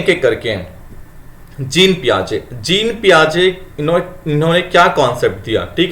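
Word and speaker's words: Piaget: ठीक है, इसको हिंदी में पियाजे बोलते हैं। यहाँ पर इंग्लिश में पियाजेट ट आ रहा होगा, ट साइलेंट है यहाँ पर।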